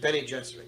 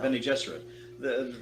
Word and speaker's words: Bene Gesserit: And when Akima says Hopi land, Bene Gesserit, you pronounce it? Bene Gesserit, yeah. Bene Gesserit.